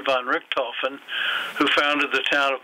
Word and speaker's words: Richthofen: Richthofen. And that is named for the Baron Walter B. von Richthofen, who founded the town of Montclair.